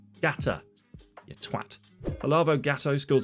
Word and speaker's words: Gatto: It's not ELGATO or GATO. It's GATA, you twat.